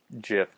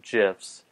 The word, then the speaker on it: GIF: who you talk to the creator of the jiff calls them gifs although it's short for Greg interchange format so you would expect it to be a hard G who knows anyway so